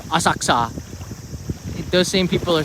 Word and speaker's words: Asakusa: For the people who always correct me that I say Asakusa wrong. I say each syllable instead of Asakusa.